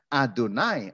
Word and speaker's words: YHWH: Tuhan berseru Tuhan Tuhan tulisannya ih WH di hbh dibacanya adonai adonai terjemahannya tuhan-tuhan itu rumitnya